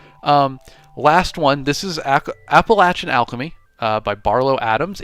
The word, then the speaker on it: Appalachian: Appalachian uh Appalachin is the way the locals say it.